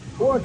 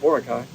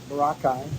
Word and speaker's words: Boracay: when we were in pookai Island you're pronouncing it like we did before we came here it's spelled Boracay Boracay um we were there